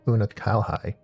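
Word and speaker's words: Unukalhai: I shall commence my work at once in concert with Unalhigh and rigorously explore the possibility. Oh, so Una Kalhai, that's how you say it.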